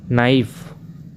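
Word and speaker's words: knife: चाकू नाइफ। नाइफ। You silent words.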